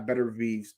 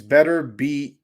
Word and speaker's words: Beterbiev: It's Beterbiev. Please say it like that. Some people say Beterbiev. I don't know which way to say it, to be honest with you.